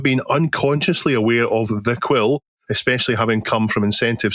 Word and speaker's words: Kwyll: the choosing of the name Quill, which is spelled Kwyll.